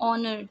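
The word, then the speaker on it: honour: और यहाँ पे एक्सेप्शन क्या है, कि जो आपका कॉन्सोनेंट साउंड है विच इज़ साइलेंट, जैसे कि एन आवर, एन ऑनर, तो यहाँ पे एच जो है वो आपका साइलेंट है, इसीलिए हम उसके साथ में हमेशा आर्टिकल एन का यूज़ करेंगे.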